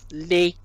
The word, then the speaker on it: les: So de is another pattern, which is when you have a little small 3-letter word that ends in es, the es is going to sound like e.